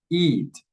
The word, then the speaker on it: eat: Okay, the difference, as you can see here, is that the I sound is longer in the verb eat, eat, eat, eat, eat.